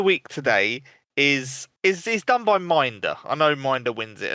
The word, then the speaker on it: M1NDR: Minder, check him out.